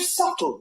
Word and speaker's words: subtle: The word subtle. Would anybody object if it was spelled s u t? Not a single person would. But there's a b in the middle going shh.